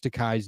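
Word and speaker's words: Takei: Now, George Tai's new fullc coloror graphic memoir. It rhymes with Tai reveals his most personal story of all told in uh in full for the first time anywhere.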